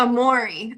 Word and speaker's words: Amorey: So how do you pronounce your name? Is it Amory? Amorey? How do it's you Amori.